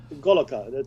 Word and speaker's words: Goloka: It actually says Goloka. That's what it says. That's how it's pronounced. That's So right. what you see in Sanskrit is pronounced Goloka.